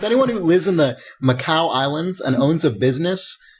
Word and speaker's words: Macau: I don't even know if that's how you pronounce the Macau Islands. And you have to use their. It's Macau.